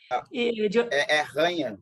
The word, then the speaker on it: Janha: Daltro Alberto Janha, que se pronuncia Marques. É assim que se pronuncia? Janha. Ranha, né? Ranha. Porque o J em espanhol vira...